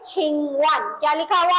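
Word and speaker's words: 请问: Vocabulary में है हमारे पास लिखा हुआ है छिंगवन. क्या लिखा हुआ है? छिंगवन. जैसे यहाँ पे जो स्पेलिंग लिखी हुई है QING और WEN, नजर नहीं आ रहा होगा आपको, बहुत छोटा सा है.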